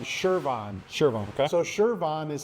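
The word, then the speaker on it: Chervon: So Shervon is how you say it, and that's who I actually work for.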